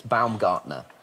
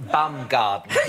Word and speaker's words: Baumgartner: bloke's name was Felix Baumgartner. Wow. I'm afraid you've got the the name a little bit wrong. I believe the pronunciation Alan and Joe? Baumgartner.